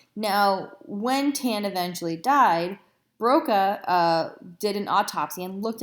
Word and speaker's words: Broca: no trying to keep Broca's area and Wernicke's area straight the trick I like to teach students is that Broca sounds like the word bokeh in Spanish what does bokeh mean